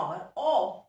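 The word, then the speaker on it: hour: ऐसी एग्जांपल और है, देखो नीचे लिखिए डॉवर, okay, H ओ यू आर ओवर, तो इसमें एच जो है ये भी साइलेंट है, साउंड किसका आ रहा है ओवर, ओ क्या है बेटा,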